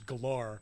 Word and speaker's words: Gellar: Well, no, that's actually from an interview that she did, where she was like, actually, the correct pronunciation is Galar.